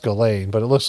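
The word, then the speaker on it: Ghislaine: You know, it's pronounced Galain, but it looks like Jizzlane.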